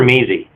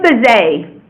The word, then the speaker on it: Mazay: Is it pronounced Mazzy or Measy? It's Mazay.